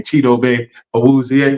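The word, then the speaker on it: Chidobe Awuzie: just you know what chidobe wer said as well well let's say his name chido aier we say it you know way he wants us to say it um him and and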